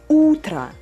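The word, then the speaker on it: утро: now okay okay so the stress goes to the first syllable utra let's repeat it again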